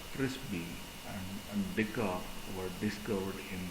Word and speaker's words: FRZB: Frisbee and Dickoff. Shortly after the attributes of Cerberus were demonstrated, two other proteins, that is FRZB, that is we call it as Frisbee, and Dickoff were discovered in the involuting endomesoderm actually.